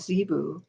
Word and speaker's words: Zibu: healing symbols and she said they are called zebu so i heard her say it there's no question about how to pronounce it and she wrote it in the